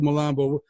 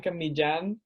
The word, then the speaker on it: Millan: everyone calls you Blanca malambo what's the actual Spanish pronunciation sound like it's pretty off you know but I just gave up you actually say it Blan mijan but yeah I can